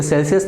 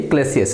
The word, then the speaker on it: Clausius: गया हूँ, ठीक है, ये सेल्सियस नहीं है, क्या है ये, क्लेसियस है, ठीक है। आई थिंक जब मैं क्लेसियस स्टेटमेंट है उसको मैं सेल्सियस स्टेटमेंट पढ़ा है, मैंने स्पेलिंग सही लिखी है, लेकिन वहाँ पर जो प्रोनाउंसिएशन है मेरा वो क्या हो रखा है, गलत हो रखा है, ठीक, उसको सही कर लेना।